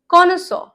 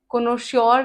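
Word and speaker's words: connoisseur: Okay, now कॉनसॉ, कॉनसॉ, कोनोश्योर नहीं, बहुत लोग हैं, बहुत सारे टीचर्स भी हैं जो इसे कोनोश्योर बुलाते हैं। कोनोश्योर नहीं होता, इट्स कॉनसॉ, कॉनसॉ।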